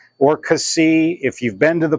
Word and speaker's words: Cassis: So you hear it pronounced Cassis or Cassis. If you've been to the place, they make a really strict point of dropping the last S.